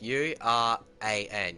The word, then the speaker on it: Uran: Is that, that's how you pronounce Uran praise, right? Like, U-R-A-N, Uran.